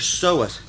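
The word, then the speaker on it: psoas: ever heard of your soas no okay your soas PS o a is how it's spelled and what they are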